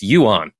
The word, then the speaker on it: yuan: Yeah, I also looked up the pronunciation. It's yuan, the Chinese yuan.